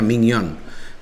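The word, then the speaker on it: Maignan: Dan juga secara permainan Sampdoria memberikan perlawanan yang luar biasa, tapi memang penjaga gawang Milan juga Mignon ya, kan seperti itu pronunciation-nya Mignon, melakukan beberapa saves yang krusial.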